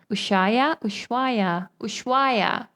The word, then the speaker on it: Ushuaia: I always pronounce it wrong. Ushuaia.